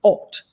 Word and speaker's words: Haute: And hot is spelled HAUTE. And I fully recognize that it's alt coals.